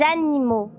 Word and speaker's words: animaux: Les animaux, je ne prononce pas le X, mon ami.